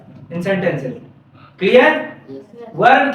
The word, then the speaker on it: verb: क्या बोलते है क्योंकि आर साइलेंट रहता है ठीक अगर उसके पहले कोई वल आता है तो आ क्या हो जाता है साइलेंट हो जाता है